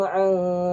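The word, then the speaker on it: عن: Alladzina hum an salatihim sahun. An menggunakan huruf ain. Banyak yang membacanya dengan huruf hamzah. Alladzina hum an salatihim. Ini salah. Karena an dengan an berbeda.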